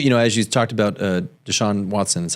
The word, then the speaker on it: Deshaun Watson: Well, as you talked about Deshaun Deshaun Watson.